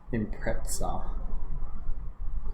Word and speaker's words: Impreza: Or, you know how they say it in Japan, yeah? Impreza.